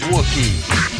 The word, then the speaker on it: Wookie: my name is Wookie. Rhymes with cookie.